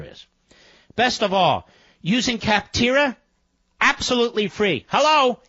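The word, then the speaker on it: Capterra: check them out here's where you go visit kaptara comm slash Levin today and join the millions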